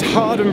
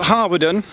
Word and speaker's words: Hawarden: This is Harden Bridge, not Harwarden. We'll talk about pronunciations in a second, because I got an expert local in to help me.